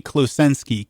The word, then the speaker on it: Klosenski: I mean, three three syllables, three three word letters per syllable. all phonetic, but it's a it's a weird string of phone names, right? So, it's uh Kloenski, K L O S